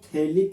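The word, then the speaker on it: phthalic: जहां पर pH silent होता है तो इस कंपाउंड को कॉमन नेम में आइसोथैलिक एसिड बोलते हैं।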